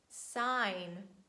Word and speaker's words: sign: is letter g and letter g silent at the end of words when it's followed by letter n and we say design align sign boring rain campaign but please make sure